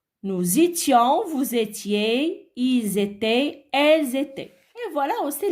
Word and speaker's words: étaient: Il et elles étaient. Alors, E, N, T ne se prononce pas. D'accord? Bon, je répète. J'étais, tu étais, il était, on était, elle était. Nous étions, vous étiez, ils étaient, elles étaient.